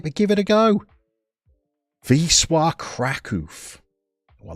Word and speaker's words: Wisła Kraków: What I wouldn't want to do is pronounce it phonetically and call them Wisła Krakow.